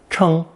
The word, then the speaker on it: 称: This new combination is also pronounced first tone, 称, 称, and contains all three connotations that I just listed for that hefting process. However, it changes tones to differentiate the meanings. The other pronunciations are fourth tone, 称, 称, and fourth tone, 称, 称.